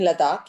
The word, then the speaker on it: Ladakh: it takes place in in ludwig right in ladakh yes i'm saying it right okay um in